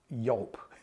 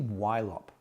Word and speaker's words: YLOP: Now, when I first came across it, I was pronouncing it YLOP. Bear with me. It's actually YLOP, but I had no idea of its backstory.